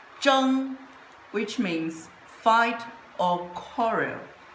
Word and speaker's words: 争: It pronounced as jung which means fight or coral.